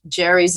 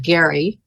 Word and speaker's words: Gerry: together with Governor Elbridge Jerry's name who signed the bill actually is called Gary uh but it's it went from a hard you to soft G and here we have